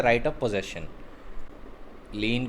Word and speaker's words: lien: लीन को लियान भी प्रोनाउंस करते हैं, since it's a French word. Spelling है इसकी LIEN.